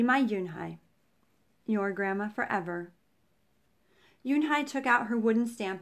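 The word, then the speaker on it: Unhei: turned to joey she nodded slowly yes it's pronounced yoon hai and it means grace mr kim added yoon hai joey said slowly and this time perfectly it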